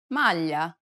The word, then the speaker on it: maglia: It's a peculiar sound because it sounds somewhat like an English L, but not exactly.